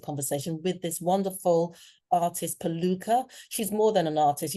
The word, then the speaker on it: Piluca: Piluca, I feel like I created a song. Yeah, you're pronouncing it very well, I must say.